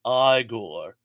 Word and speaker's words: Igor: And then Igor said, it's pronounced Igor. Really? They told me it was Igor.